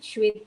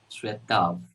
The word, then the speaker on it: Shwetabh: Shwetav. Shwetav. Okay, okay. So there is a problem with the bha sound. So Yes. we pronounce bha as va, right?